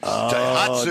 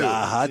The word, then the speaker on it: Daihatsu: Daihatsu. Daihatsu.